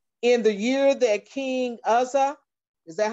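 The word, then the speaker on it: Uzziah: In the year that King Uzzah, is that how you pronounce it?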